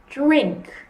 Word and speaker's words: drink: But here we have a cluster of consonants, so we want to concentrate on that. So we want to say drink.